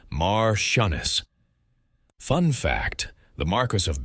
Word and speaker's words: marchioness: The female equivalent is Martianess, pronounced Mar Shunnis.